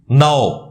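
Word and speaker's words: know: के एन ओ डब्लू नाओ इसमें के साइलेंट होता है अब रूल के तहत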